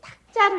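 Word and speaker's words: 度: 중생제도 할 때는 이걸 도자라고 읽고 그렇죠? 그 다음에 헤아린다. 숫자를 센다라고 그럴 때는 탁자로 읽어요. 탁.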